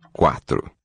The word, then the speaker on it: quatro: Quatro. Quatro. Two open syllables.